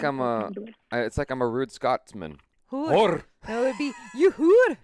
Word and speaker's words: hor: Hoor. Are you it's H-O-R. Are you rolling the R? Hoor. Hoor. Yeah, you're rolling the R. You can say it normally. You don't always have to roll your R.